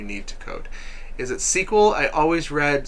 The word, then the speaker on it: SQL: out what you need to code is it sequel i always read squirrel that's pretty funny yes it does look like squirrel no it's pronounced sequel it is definitely pronounced sequel it's even funnier if you knew how many